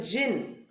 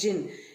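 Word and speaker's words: djinn: and a man so jin it's d j i double n but it the d is silent so it is pronounced as jin jin is another word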